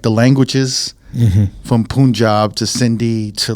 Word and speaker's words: Punjab: Wait, think of Punjab as the way you say big pun.